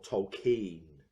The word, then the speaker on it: Tolkien: of a rest with Tolkien or tokine they make a joke about that pronunciation in the movie itself directed by a dome